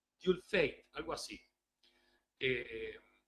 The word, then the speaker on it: Dieulfaite: irrepetible es algo así se escribe d i e u l f a i t e algo así como du fate algo así eh Y